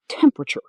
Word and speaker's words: temperature: Like comfortable and vegetable, the word is shorter in natural speech than it looks on paper. Temperature. 3 syllables. The ending "-cher" in English always sounds like "-cher." Culture, culture. Nature, nature. Picture, picture. And temperature, temperature. Remember that pattern? It helps with many words.